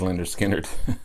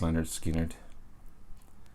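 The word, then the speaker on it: Lynyrd Skynyrd: want but um is linda skinner i don't know how that's missed these guys uh this is uh street survivor i'm awesome awesome awesome second helping and pronounced leonard skinner these guys are amazing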